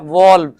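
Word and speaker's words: valve: हम कहते हैं ना यार वॉल खोल दो, पानी खोल दो, ये वही वॉल है, लेकिन इसके असल स्पेलिंग वॉल होते हैं, वॉल्व।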